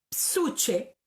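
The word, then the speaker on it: ψυχή: Una es psuche, se escribe P-S-U-C-H-E, psuche, ¿ya?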